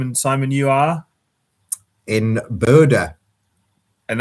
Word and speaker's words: Bodø: And Simon, you are in Bodø, and is that the official pronunciation? I think that is.